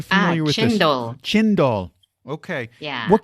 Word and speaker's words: cendol: Speaking of desserts and sweets, I read about something called I think it's pronounced cendol, Cendol. Are you familiar with chendol.